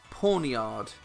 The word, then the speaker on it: Pawniard: It's pronounced Pawniard.